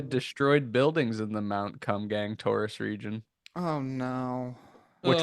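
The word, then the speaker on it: Kumgang: bu Kum gang it's pronounced Kum gang oh Guang Guang down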